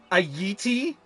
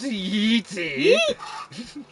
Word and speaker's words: yeti: A yeti?